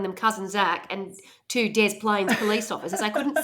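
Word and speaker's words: Des Plaines: I hate calling it Desplaines because it looks like it's French, but you don't pronounce it French. It's not De Plan, it's Dez Plains. And when they say it's Dez Plains, it looks like I'm joking.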